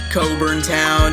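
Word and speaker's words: Cockburn Town: Caribbean next to the Bahamas we're almost done Coburn town is how you pronounce the capital's name spreading across most gr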